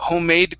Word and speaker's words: homemade: So instead of saying homemade cookies, D, we actually just pronounce the sound here. Homemade, okay, using a stop D.